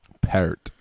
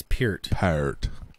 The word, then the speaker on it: Peart: Peart. It's Peart.